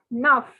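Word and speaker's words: neuf: let us relax so take that word enough remove the e from that word and say naf nine is naf ah the through sign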